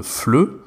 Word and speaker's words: FLE: je sais qu'il ya beaucoup de gens qui pensent que ça se dit fl et moi juste est le